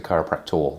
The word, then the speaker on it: chiropractor: And the person that does it is a chiropractor with an OR at the end.